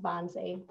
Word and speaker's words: Wannsee: take place there and in german language w's are pronounced as a v for our language so it even though it's spelled with a w is pronounced bonsai so on january 20th